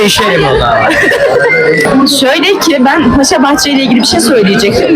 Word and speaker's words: Paşabahçe: Şöyle ki ben Paşabahçe ile ilgili bir şey söyleyecektim ve Paşabahçe'yi Paşabey olarak telaffuz ettim ve o kadar emindim ki Paşabahçe dediğimden Paşabe Bey Paşabahçedir. Aksini iddia eden de bardak